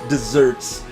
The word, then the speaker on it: deserts: It is spelled like deserts, but it is pronounced desserts.